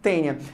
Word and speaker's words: Taenia: a escrever assim galera em latim tainha tá mas a gente se pronuncia tenha eu já vi algumas